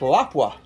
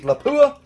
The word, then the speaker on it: Lapua: told me that that is supposed to be pronounced Lapua. My redneck self, that's hard to say. All of the Lapua purists out there, y'all don't be offended by the fact that I pronounce these Lapua, because it looks like Lapua to me.